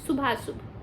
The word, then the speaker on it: शुभाशुभ: शुभाशुभ ऐसे लिखते हैं ये शुभाशुभ शुभ और अशुभ को अ साइलेंट हो गया शुभाशुभ लिखते हैं ठीक है उसमें अ की आ की मात्रा तो आ गई पर अ साइलेंट है सुभाशुभ ऐसे बोलते हैं तात्पर्य गुरु के निर्देशन